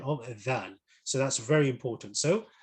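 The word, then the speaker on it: ذال: where it's pronounced from, it is pronounced with the tip of the tongue touching the edge of the upper two front teeth.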